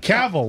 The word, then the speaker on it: Cavill: Cavill, like travel.